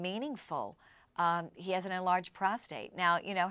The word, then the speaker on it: prostate: with that exam one of the most common mispronunciations of a word is prostrate and uh david milch being as clever as